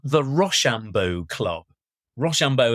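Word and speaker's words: Rocambeau: called the Rambo Club Rambo as in the sort of French way You' spell it R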